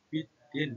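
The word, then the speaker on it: بِالدِّينِ: baca Idam Syamsiah jadi cara membacanya biddin gak boleh bin Bidin lanjut yang ayat keduaalikaika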